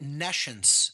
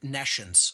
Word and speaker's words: nescience: or hear the word nescience. So I'll even spell it for the listening audience. It's Nescience, like N-E and then the word science, meaning no science.